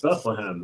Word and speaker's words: Bethlehem: I guess I say Bethlehem really fast because people have said it's not Bethlehem, it's Bethlehem. And well, it's not one syllable; it's 3 syllables. Bethlehem. Right? That's 3 syllables.